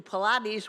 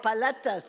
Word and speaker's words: paletas: Yeah, P-A-L-A-T-E-S, not Pilates, Pilates. I'm probably not saying it correctly. What? Oh, paletas. Okay, there we go.